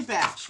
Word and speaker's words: Bach: the easier it is so if it's easy to say Bach it's easy to say Bach okay but Dr batch yes um Dr batch